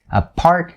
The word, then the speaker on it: apart: for the word apart a part is like part of something now we have a in front so you have a part a part so the t here notice the way that i stop it and in order to